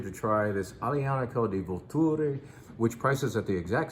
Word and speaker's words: Vulture: This is Aglianico di Vulture. It looks like vulture if you see it in print, but you say Vulture. I had to relearn that pronunciation and emphasis last night when Nico was representing this wine.